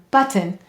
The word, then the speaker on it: button: Now notice I say the I sound here, button. Why? Any vowel may say or I in an unstressed syllable. That's called a schwa or a lazy vowel, and it's being lazy right there.